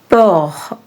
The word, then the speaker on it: peu: peu peur Peu is a closed EU sound, which means a little.